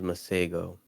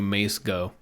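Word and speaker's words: Masego: song there's a song that she had was my sago and that man's very talented i like his voice like that's how you pronounce his name yeah i apologize miss ago for calling you mace go go ahead talented singer he knows like a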